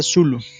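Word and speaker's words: Cthulhu: Esto era particularmente cierto en relación a Tulhu. Se pronuncia Zulu.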